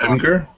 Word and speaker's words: Imgur: IMG. G-U-R. Yes. Oh, Imgur? Imgur, yes.